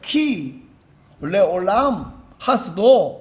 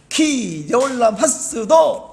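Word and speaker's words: כי לעולם חסדו: 원 히브리어 발음은 뭐냐면, 왜냐하면 그 인자심이 영원하기 때문에 이런 말인데, 그 히브리어 발음은 키 레올람 하스도 이렇게 되어 있는데, 이게 우리나라 말하고 달리 말이 재밌어요. 키 레올람 하스도, 키 레올람 하스도, 이렇게 화답을 하는 거예요.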